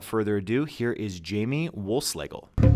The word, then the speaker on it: Wohlschlegel: it and without further ado here is Jamie Wolfe Slagel thank you so much Jamie wolf slagle for joining me today thanks great great to